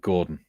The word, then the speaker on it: Gorodon: Well, This it's spelled Gorodon because Yeah. that's how an orc would say it. But I pronounce it Gordon.